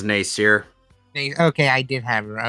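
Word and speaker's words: Nasir: How's her name pronounced? No. It is Nacier.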